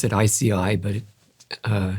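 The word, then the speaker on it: IASEAI: We pronounce it ICI but uh it's easy to misspell but you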